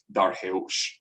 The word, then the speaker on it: Darius: darius and xerxes now the way that darius and xerxes those names are pronounced varies depending on what language we're using um so uh in old persian you wouldn't call the king darius you would probably say something like darheus so that's why the assumption